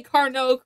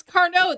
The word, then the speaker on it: Carnot: I did know how to say Carnot correctly, like the Carnot cycle. I was very happy about that. Yeah. Like, oh, I know what that is. That's Carnot. That's French.